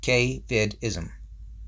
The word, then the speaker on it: caveism: The following will explain the core tenets of a lifestyle and belief system called caveism, pronounced K-vid-ism.